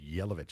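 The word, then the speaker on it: Jelovich: Yelovich. Yelovich. So the J is a Y sound and the C is a ch.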